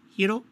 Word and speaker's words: gyro: It's pronounced hero, just like that.